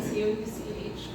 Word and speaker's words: Couch: It is that is spelled E R I N C O U C H. Couch like a sofa. Uh my Facebook is Couch as spelled previously. And my Instagram name is Couch writes.